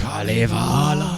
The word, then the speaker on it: Kalevala: Kalevala.